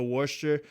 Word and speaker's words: Worcester: I was taking a train across Massachusetts to war sure and that's how you pronounce it washed you it's spelt Worchester but